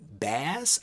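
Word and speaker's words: Baz: the first appearance of simon bass i think that's how you pronounce his last name b-a-z simon is actually a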